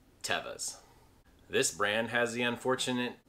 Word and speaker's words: Teva: they've always been and always will be called tevas this brand has the unfortunate tendency to be called a mushroom people pronounce it morel but it is actually pronounced